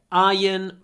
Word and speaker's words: iron: I have a cast iron frying pan so iron strange isn't it we write i r o n but we say i n ion no R don't say the Ron Caston of is